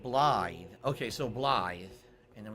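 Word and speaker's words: Blaidd: Blade is pronounced Blythe.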